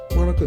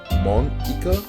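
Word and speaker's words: Monika: Monica? Eh? That's not how you say my name at all. Monica.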